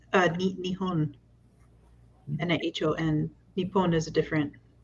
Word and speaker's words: Nihon: So the Japanese names for Japan are both Nippon and Nihon. I didn't know that either. I've been learning like when you get your language learning for the week and it says that Japan is pronounced Nihon in Japanese, I don't question it.